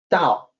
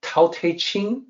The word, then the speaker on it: Tao: on two things here the unasporated t is supposed to sound like d the T Cell the Tao is spelled with a t if you wanted to say the aspirated tea you will need to put an apostrophe next to it this is the unique